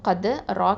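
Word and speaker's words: قدر: அடுத்தது cough Fattah தால் சுகுன் கது, ரா கஸ்ரா ரி, கதுரி வக்ஃபு பண்ணுறதுனால கதுர். இந்த ராவும் எப்படி ஓதணும், தஃப்ஹீமாக தான் ஓதணும்.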